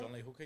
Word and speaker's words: John Lee Hooker: Am I pronouncing that right? John Lee Hooker, yep.